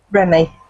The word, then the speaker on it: Remy: How do you pronounce it? Remy.